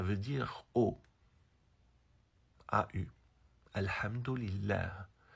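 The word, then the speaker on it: الحمد لله: dire au a eu alhamdillah c'est comme ça qu'on prononce en arabe on ne prononce pas Hamdallah ou Hamdallah même ceux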